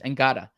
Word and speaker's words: Ngata: for you, like Joseph Nada, let's say, right? And I apologize, Ngata. It's spelled the same as Haloti Nada. Right, exactly. This is an important distinction. It's spelled the same, but it's pronounced differently.